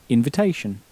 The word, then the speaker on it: invitation: bit trickier to pronounce because the in at the beginning has that sort of sulky teenager sound that's pronounced. Un. So how would you say again invitation?